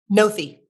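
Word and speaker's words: Noethe: to pronounced it differently it's spelled n-o-e-t-h-e and it's not no no theme I think it's noeth no if no if uh Jillian Noth I I think that's how her name is pronounced I've never actually heard her last name I do want to ask because you've served as her spokesperson how do you pronounce jolin's last name nothy there's not much online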